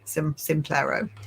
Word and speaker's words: Simplero: Yeah, Simplero.